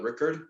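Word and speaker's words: Rikard: with henrik and michael and patrick and uh rickard is how you pronounce his name the keyboard player yeah yeah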